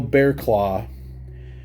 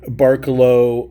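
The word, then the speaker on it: Barraclough: this and you knew this is Bearclaw and not Barkalow, or however people are trying to say this.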